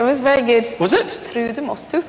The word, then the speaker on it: Trude Mostue: Trude, Mostue. Trude, Mostue. That's right. Ah. Don't lapse into the English accent. We prefer the Norwegian.